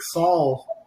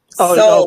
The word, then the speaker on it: Saul: group, but I think Saul should submit a clip too. What do you think, Saul? Soul. We always say it's soul. Steve, I'm It's interviewing okay. you one day. People pronounce it both ways.